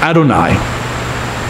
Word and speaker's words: Adonai: that you shouldn't swear this holiest of names is spelled out the old hey in Hebrew but out of respect the word is always pronounced Adonai when you come across